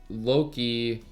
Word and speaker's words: Loki: the arse so and just as that's happening Loki I said it right this time you did